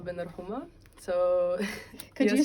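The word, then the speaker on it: Ben Rhouma: name yeah of course okay so I'm Bender Homa so could you say could you spell that for me so I don't make any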